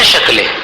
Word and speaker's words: शकल: देखो, उच्चारण में कितना फ़र्क पड़ जाता है। सकल बोलो तो, सकल यानी पूरा और शकल यानी टुकड़ा। कितना फर्क हो गया? श और सल यानी पूर्ण और शक्ल यानी खंड, अपूर्ण।